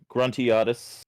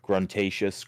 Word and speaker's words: Gruntiatus: Well, I'm Gruntiatus. It's pronounced about 400 different ways on Twitch, but that's the way I like it. It's been said Gruntatious, Gruntious, all kinds of ways, so there's no wrong way of pronouncing it.